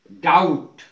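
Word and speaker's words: doubt: silent रहता है जैसे डाउट डाउट में आप डी ओ यू बी टी तो ये बी पहले है और टी बाद में है बी साइलेंट रहेगा डाउट अर्थ है संदेह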